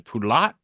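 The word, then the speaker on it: Poulat: Oh, yeah, that's uh was it Cedric as in Poulot? I think that's how you say it. P O U L A T.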